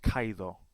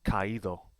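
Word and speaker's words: caído: it would be pronounced kaido since we want to hear the weak vowel we need to add an accent mark and now it's pronounced kaido here are some others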